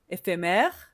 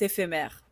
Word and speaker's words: éphémère: Et le troisème e c'est l'accent ouvert et donc fait mè. Ce mot décrit quelque chose de temporaire qui ne dure pas. Par exemple, un coucher de soleil est éphémère.